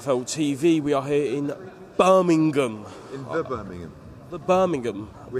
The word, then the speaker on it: Birmingham: I say Birmingham but you got to properly pronounce the G Birmingham Birmingham that's what P